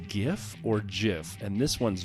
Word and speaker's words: GIF: Is it pronounced GIF or GIF?